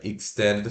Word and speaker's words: extended: Se pronuncia assim, ó, você escreve E-X-T-E-N-D-E-D, né? Extended. Mas se pronuncia stand, did. Tá? Então, I curto K, stand, o E de ela, stand, D, I curto D, did, extended.